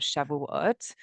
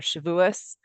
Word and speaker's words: Shavuot: We are coming up to the holiday of Shavuot. Most people know, or Shavuos, depending on how you say it.